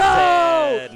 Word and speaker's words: Zain: We were saying Zain on commentary. Yeah, that is the real pronunciation of mine.